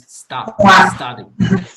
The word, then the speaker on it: study: Recuerda que la pronunciación de la U no es como una U tradicional en español, sino es study.